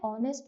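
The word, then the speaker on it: honest: तो कोई word H से स्टार्ट हो रहा है जो कि कॉन्सोनेंट है, पर कहीं कहीं पर वो साइलेंट होता है और वोवल वाली साउंड आती है, जैसे आर. तो यहाँ पर एच साइलेंट रहता है और हम ऐसे ही प्रोनाउंस करते हैं. एन ऑनेस्ट मैन, an honour.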